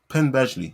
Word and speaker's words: Penn Badgley: something like that rings the bill i can spell it i can't say it penn badgley that's it he is he is like a